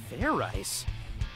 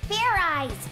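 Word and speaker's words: Fairize: you can fair eyes fair rice is that sort of like fried rice idiot it's pronounced fair eyes there's no ice in it give me about a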